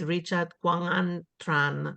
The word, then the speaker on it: Richard Quang Tran: Richard Tran is so his full name is Richard Quang Tran. Did I pronounce well, Richard?